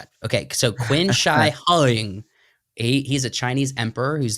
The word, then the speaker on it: Qin Shi Huang: I believe that's pronounced Qin Shi Huang. Yeah. However, you're the master at the Asian here. I think that Q is pronounced. Wait a minute. Qin. Why is Chin.